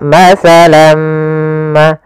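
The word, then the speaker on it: مَثَلًا مَا: nun sukun bertemu mim, ini awalnya masalan kita baca dengan lan. Karena bertemu mim, tanwinnya masuk kepada huruf mim, tinggallah bunyi suara huruf min. Maka masalam ma, ya, kita namakan dengan idgham bi gunnah pula.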